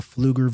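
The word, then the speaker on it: Pflugerville: Austin to Round Rock to fluger which is spelled weird beuger yeah but even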